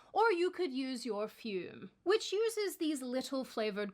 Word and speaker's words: Fume: Fume rhymes with broom.